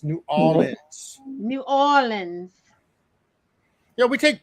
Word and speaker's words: New Orleans: it ain't New Orleans. It's New Orleans.